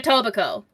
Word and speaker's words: Etobicoke: Like, for example, I technically live in Toronto, but if anybody asks, I say I live in Etobicoke. Bless you. Yeah, you should see how it's spelled.